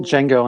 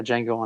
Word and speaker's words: Django: his since then yeah Django and I was like this isn't fair to even learn how to pronounce it I thought the D was not silent so I was like the Django and Jane I used